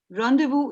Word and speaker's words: rendezvous: Rendezvous is spelled as R-E-N-D-E-Z-V-O-U-S, but it is pronounced as rendezvous. It's a French word, and it means meeting at an agreed time or place, especially a secret meeting.